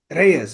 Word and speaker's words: Reyes: They're gonna have a hero whose last name is Reyes. Reyes, if you want to pronounce it correctly.